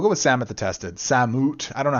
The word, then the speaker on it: Samut: Samut. I don't know how you pronounce it. I say Samut. It's like salmon, but ut.